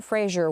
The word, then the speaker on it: Fraser: on TikTok and Brendan Fraser was on there saying that his last name is actually pronounced Fraser rhymes with razor.